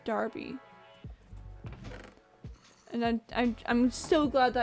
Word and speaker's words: Derby: of not knowing that a word that looks like it's being pronounced Derby is pronounced Darby.